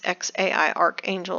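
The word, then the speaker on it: X Æ A-12: And uh so we have her son and he's named X AE A12 which she pronounces X AI Archangel or X for short.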